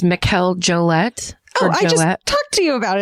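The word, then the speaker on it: Mikel Jollett: So, I think his name is pronounced Mikel Jolette.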